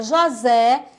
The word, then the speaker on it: José: jovem Zé olha lá juntando formou a palavra José onde é escrita com s por intenção de